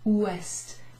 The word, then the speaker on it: ouest: Ou, followed by est. Ouest. Almost sounds like the English, doesn't it? West.